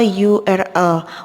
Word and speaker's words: URL: Jadi di sini adalah a URL. Walaupun di sini adalah hurufnya adalah huruf vokal, tetapi suaranya adalah suara konsonan, maka artikel yang digunakan adalah a.